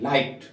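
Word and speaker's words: light: क्या रहेगा साइलेंट रहेगा एग्जांपल देखिए एल आई जी एस टी एल आई जी एस टी लाइट तो यहां पे एल आई और टी का ही प्रोनंसिएशन हो रहा है बाकी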